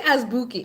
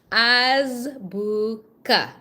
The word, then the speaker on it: azbuka: I didn't say azbuki. It's azbuka. Azbuka. Azbuka.